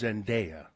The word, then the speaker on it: Zendaya: Other notable entrants include Zendaya. Or Zendaya. It's Zendaya. And that's how it's spelled. Mm-hmm. It's spelled Daya. And that's but some people for some reason say Zendaya.